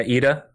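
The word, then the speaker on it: Edea: Idia? Yeah, Ida.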